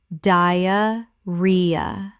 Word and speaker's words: diarrhea: ek-zuh-muh eczema Word 55: diarrhea Common mispronunciation: di-uh-ree-uh Correct pronunciation: di-uh-ree-uh The stress is on the third syllable. ree Example: One of the